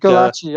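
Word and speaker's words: Gulácsi: Galachi. I pronounce Galachi.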